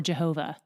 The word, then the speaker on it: Jehovah: This is YHWH, God's personal name, often pronounced Yahweh or Jehovah.